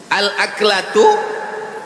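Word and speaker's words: الأكلة: Al-aklatu bifathil hamzah. Cara membacanya hamzahnya baris atas A.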